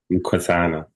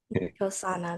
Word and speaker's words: Mkosana: Mkosana. Mkosana.